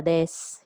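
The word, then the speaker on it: です: So if you are Hinata, you say Hinata desu, Hinata desu. So desu pronounced as des, Hinata desu.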